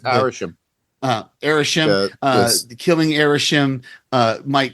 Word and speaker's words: Arishem: say his name isim yeah it's arish uh arishem uh killing arishem uh might cause the other